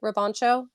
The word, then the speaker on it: Robancho: is a unique poe app uh did i pronounce your last name correctly roboncho yes you did you did fantastic okay good